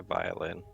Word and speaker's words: viol: takes out a vial which is like a violin and goes okay i'll help viol is how it's pronounced viol oh we all just uh subclass